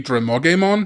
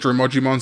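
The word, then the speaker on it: Drimogemon: So by all rights, the name should be Dramogemon, but the dub calls it Dramogimon, so this is really just a dub versus sub difference.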